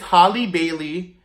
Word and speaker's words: Halle Bailey: For my first unpopular opinion, I have said her name wrong. It's it's Halle Bailey as the Little Mermaid.